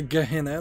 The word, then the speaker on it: Gehenna: The Road to Gehenna, let me say it correctly this time.